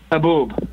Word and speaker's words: haboob: So how do you pronounce it? Haboob? Haboob.